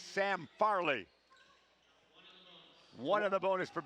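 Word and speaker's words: Fehrle: of the boing troops he spells it f e h r l e but it said like Farley but good try nice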